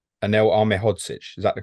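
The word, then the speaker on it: Ahmedhodžić: Ahmedhodzic, Um, is that the correct pronunciation? Anel Ahmedhodzic, is that the correct pronunciation?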